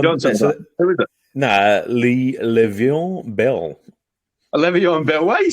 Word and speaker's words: Le'Veon: Nah, Le'Veon Bell.